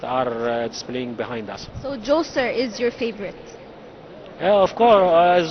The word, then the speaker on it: Djoser: Of course, Zoser and Imhotep. Do we say Zoser or Djoser? So there are many names and pronunciation for Zoser. Zoser, Jesser, Netrichet, Okay. all of this pronunciation for the same meaning.